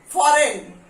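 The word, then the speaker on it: foreign: Okay, फॉरेन, फॉरेन, जी is silent.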